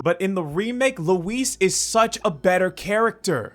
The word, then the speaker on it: Luis: It also didn't help that Leon just straight up pronounced his name wrong as he died. Louis! Who's Louis. But in the remake, Luis is such a better character.